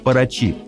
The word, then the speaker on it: Paraty: Кстати, название Парати бразильцы зачастую произносят как «Парачи», с ударением на последнем слоге.